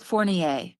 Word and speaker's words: Fournier: It is Fournier. Yes, Fournier.